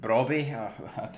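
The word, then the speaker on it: Brobbey: and oh well Ajax Ajax apparently are selling Brabby is how you pronounce it to Sunderland for 26 million.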